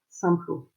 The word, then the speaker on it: Simplot: pomme de terre c'est Simplot. Je prononce à la française.